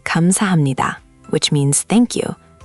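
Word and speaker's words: 감사합니다: Kamsahamnida. Thank you. Okay, I've heard that one before. Let's make sure you've got the pronunciation down. It's kam-sa-ham-ni-da. Four syllables with emphasis on sa and ni.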